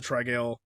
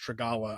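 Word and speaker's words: Trigalla: So, yeah, and then Kruppa, of course, suggests the Trigale. Okay, I've been reading it Trigale, but it's actually pronounced Trigala, I think, from the audio.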